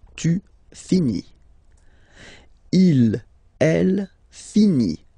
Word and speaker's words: finit: Il, elle finit. So I-T, final T not pronounced.